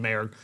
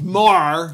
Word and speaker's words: Maher: Bill Maher excuse me I was saying Maher it's more excu says he's hoping